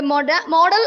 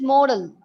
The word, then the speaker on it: modal: to grammar rules the model auxiliary see children so uh the actual pronunciation of the word model modal is modal right modal right okay according